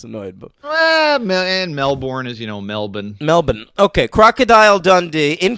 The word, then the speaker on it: Melbourne: Yeah, I know it's pronounced Brisbane though, so I was annoyed. But and Melbourne is, Melbourne.